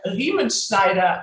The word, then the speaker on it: Riemenschneider: your last name okay it's lemon schneider actually in german but i mean it's